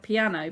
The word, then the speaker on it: piano: So forte is loud, and piano, it's spelt like piano, but these are Italian words, so it's pronounced piano.